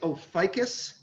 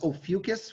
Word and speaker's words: Ophiuchus: that look for a while i used to pronounce it oh ficus i suspect that's the real pronunciation but the the pronunciation key was ophiuchus when i checked it on miriam webster so many people say oh fucus i say oh ficus here's the thing um